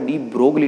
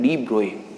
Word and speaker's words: de Broglie: ठीक है ना, ये एक्चुअल में जो वर्ड है वो डी ब्रोगली नहीं, हम जनरली इसका जो प्रोनाउंसिएशन करते हैं वो डी ब्रोगली करते हैं, जबकि ये वर्ड क्या है डी ब्रोए, because French word है।